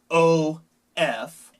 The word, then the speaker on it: of: También con la F, la palabra of es OF. La F es pronunciada como V, of, y significa de.